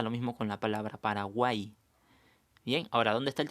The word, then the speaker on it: Paraguay: que estos de aquí, hay casos especiales en que la I griega, que le llamamos, a veces funciona como I latina, no la pronunciamos como doble L, la pronunciamos como I. Claro, como en esta palabra, buey, la estamos pronunciando como letra I a la Y.